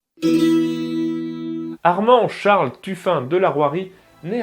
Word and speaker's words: La Rouërie: Des maths et bienvenue dans ce premier épisode consacré à Armand de la Roirie. Et oui, ça se prononce comme ça.